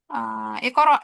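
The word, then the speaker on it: اقرأ: Oh, ikoro, ikoro. Contohnya ikoro, ikoro, ikoro. Nah, pas ikoro kan lihat huruf ketiganya nih, fathah ya.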